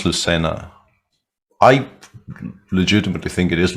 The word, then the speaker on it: Lucena: cordoba and spain yeah that definitely is lucena right that that has no other pronunciation possible uh so that was